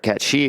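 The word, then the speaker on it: Cait Sith: of Red 13 and Kate Sith, or Cat She, if you insist on the pronunciation with that one.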